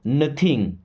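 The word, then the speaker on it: know: Okay, I नो nothing. दोस्तों, I means होता है मैं। नो, अब इस नो वर्ड में के भी साइलेंट होता है और डब्ल्यू भी साइलेंट होता है।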